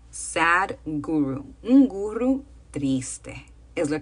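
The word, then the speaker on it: Sadhguru: hombre que se llama Sad huru Sad huru que se escribe s H guru Sad guru un guru triste es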